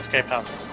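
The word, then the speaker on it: Skype Haus: Yeah, Skype House, as in we actually have a Skype group, which is called Skype House. Get how the house thing started, and yes, it's pronounced H-A-U-S.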